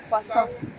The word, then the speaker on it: croissant: Croissant. Croissant? I can say croissant. You're not saying it right.